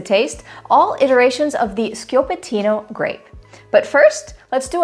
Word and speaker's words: Schioppettino: you pronounce this word if you said scatino you are right that was sko patino hi there I'm jacine